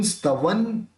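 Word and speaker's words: स्तवं: अब व के ऊपर बिंदी, वापस वो आ गया, व बोलेंगे दोनों होंठ मिलेंगे नहीं, तो उसका भी उच्चारण न निकलेगा, तो कर्तुन स्तवन विगत, कर्तुन स्तवन विगत,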